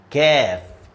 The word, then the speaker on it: كاف: So the previous one is heavy, but this one is light. Ka. You see my mouse? I'm showing you a little smile. Mean this letter is light. Ka. But the other one, the previous one is qa. There's no smile. Qa.